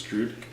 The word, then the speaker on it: Drudkh: I'm talking about is Drudk. However you want to pronounce it, I think it's just pronounced Drudk though.